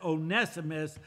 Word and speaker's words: Onesimus: He says, "I beseech thee for my son Onesimus," amen. That's how you pronounce that, Onesimus, "whom I have begotten in my bonds."